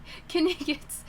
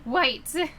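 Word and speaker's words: wights: Such like Kniggets. I'm thinking of Monty Python. Why did I pronounce it like that? Whites.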